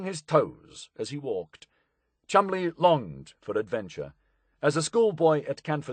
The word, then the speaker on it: Cholmondeley: Chol Manderly, pronounced Chumley, was one of nature's more notable eccentrics, but a most effective warrior in this strange and complicated war.